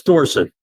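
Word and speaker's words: Dorsett: Um but I, you know, he keeps pronouncing it the Pittsburgh way. Dorset instead of Dorset. That's right. It's Dorset.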